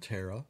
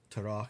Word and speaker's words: Terah: Now, there's a lot of traditions that surround Terah, or Terach, as depending on your pronunciation, and including, now get this, here is a legend that I don't know if we can believe or not.